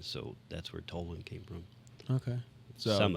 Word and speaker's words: Toland: Toland. Yes, Okay. you did. A lot of 'Cause- times people pronounce it like Toland or Toland.